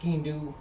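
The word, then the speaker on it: sgian-dubh: So it was often skean-do. Let's look at the origin of the word first of all. It's spelled funny. It's Skiandubh. It's pronounced skean-do.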